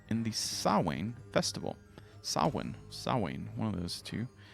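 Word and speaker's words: Samhain: they started doing this crazy stuff it's called saw one and it's but it's spelled like this and it's so you might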